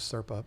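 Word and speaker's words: Serpae: But yeah, I felt like a real idiot when I found out that it was Serpa, because, that's how it's spelled, but still.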